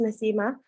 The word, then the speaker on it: Nasima: mispronouncing my name um it's quite easy to say it's nasimah and i've had people